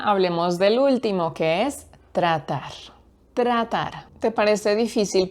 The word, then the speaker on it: tratar: Yo creo que sí es difícil para los hablantes de inglés porque tiene esa combinación tr que a muchos les cuesta como tr, a muchos les cuesta eso y pronuncian como tr tra tress tress tratar.